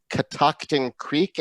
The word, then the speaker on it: Catoctin Creek: So we have with us tonight Becky Harris from Catoctin Creek. Am I pronouncing that correctly, Becky?